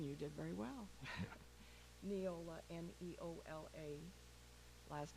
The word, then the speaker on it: Neola: Well, thank you for the pronunciation. You did very well. Neola, N-E-O-L-A.